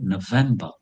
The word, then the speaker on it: November: I I bite my lips when I pronounce because the V is always to be bitten. You need to bite your lips to pronounce V.